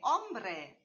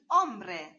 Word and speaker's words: hombre: H de hombre, el hombre, man. Spanish H is not pronounced.